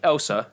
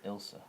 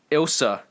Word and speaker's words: Ilsa: No, he gets shot by Elsa. I tried. And this is where they reintroduce. Not Elsa, bro. It's Ilsa. Ilsa.